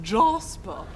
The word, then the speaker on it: Jasper: a black labrador called Jasper pronounced Jospeh I think isn't rocket